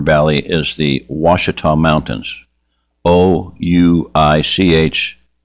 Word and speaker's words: Ouachita: Ouachita. Ouachita. It's how it's pronounced Ouachita. It looks like Ouachita, but Ouachita Mountains.